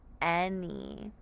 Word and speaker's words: any: sound right here here the a is going to make the sound of e and then y at the end remember says e or I here it's going to say e in the word an any for example do you have any questions any let's practice any together remember that a says e and that y says e in the word n